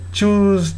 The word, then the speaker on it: choose: がねこっちをねウィッ長ウイ choose という発音するとこういう風に聞こえる